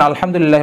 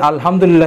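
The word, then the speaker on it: الحمد: কিন্তু আমরা যদি বাংলাতে কোরআন কারিম তেলাওয়াত করি তাহলে আমরা ছোট হা এবং বড় হার উচ্চারণটা আমরা সঠিকভাবে করতে পারবো না। এরপরে যদি আমরা ভুল করে যদি আমরা বলে ফেলি আলহামদুলিল্লাহ রাব্বিল আলামিন তাহলে অর্থ হবে সকল ধ্বংস আল্লাহ তাআলার জন্য, নাউজুবিল্লাহ।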